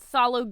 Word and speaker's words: phthalo: My second favorite color is something, it's actually called phthalo green. It's spelled, phthalo green is, okay, right?